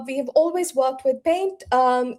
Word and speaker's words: Paynt: It is Paynt, URocked powered by Paynt.